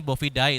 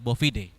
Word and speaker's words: bovidae: berasal dari familia bovidae terusannya boobyday Tapi bacanya bovidae familia hewan berkaki empat